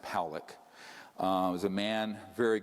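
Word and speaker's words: Pawelec: 600,000 views this man William poock it's pronounced poic uh was a man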